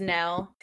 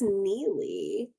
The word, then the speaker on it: Nele: In my I mind, did, but I don't remember how they I think I pronounced it as Nell. It's spelled Nele. I think So, it's Neely.